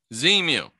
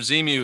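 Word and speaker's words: Xenu: it marks the place where Z mu is actually spelled with an x jhana I don't think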